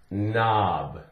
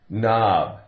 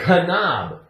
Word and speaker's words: knob: The K is silent. All you hear is N, N, N, N. For example, we have the word knob. Knob.